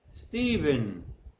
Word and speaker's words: Stephen: Nephews, Stephen. As you can see, the PH in both words is pronounced a.